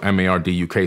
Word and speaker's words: Marduk: After the Great Flood, Amun-Ra, aka Marduk, he's known as Marduk in the Bible, M-A-R-D-U-K. Some people say Marduk, depending on how you want to pronounce his name.